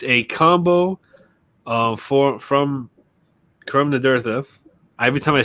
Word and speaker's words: Curam Nadurtha: So it's a combo from Curam Nadurtha.